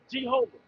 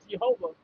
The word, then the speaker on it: Jehovah: Jehovah. G. There's no J sound in the Hebrew.